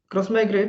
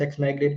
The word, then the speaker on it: Xmigrate: We don't call like it is written as X migrate but we don't generally like pronounce it as X migrate.